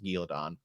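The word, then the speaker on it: Caemlyn: this stuff but technically we're in galedon or as i still call it because it's how it's pronounced in the books gildon um so you could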